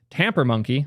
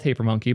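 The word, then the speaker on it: Tampermonkey: can be dumped using tamper monkey I'll always call it taper monkey but wanted to give you guys the correct pronunciation just this one time the value here is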